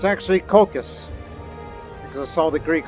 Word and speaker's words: Colchis: that name of that region which i originally pronounced as cultures it's actually caucus because i saw the greek alternate spelling of that name so it's cocos cocaine get used to it finally figured out